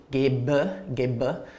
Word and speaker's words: gebe: It becomes an E ending, which is pronounced like a schwa. For example, I give, ich gebe, so it's an ending.